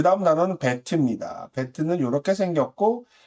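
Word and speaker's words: בית: 배트는 이렇게 생겼고, 읽을 때는 배트라고 읽어요.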